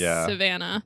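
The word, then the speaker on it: Sivanah: in Africa yes it's spelled s i v a n a but I'm going to assume it's still pronounced Savannah yeah like just a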